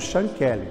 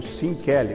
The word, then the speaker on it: Sean Kelly: Nós vamos contar a história aqui do Sean Kelly, ou Sean Kelly, ou Sean Kelly, tanto faz, as 3 pronúncias são possíveis.